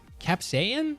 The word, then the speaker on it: capsaicin: Capsaicin? That's how you say that? But why? So we don't pronounce the C? Because the spelling is cap, S-A-I-C-I-N. Oh, saicin. Capsaicin. Sorry, I didn't even... okay, capsaicin.